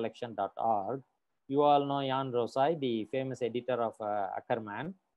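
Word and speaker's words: Juan Rosai: The J is silent here, so Jan Rosai.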